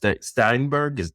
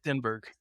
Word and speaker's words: Stenberg: Amanda Steinberg. I'm saying it right. Stenberg. Stenberg.